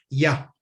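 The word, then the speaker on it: יה: Y es el santo nombre de Yud-Hei, que se pronuncia Ya.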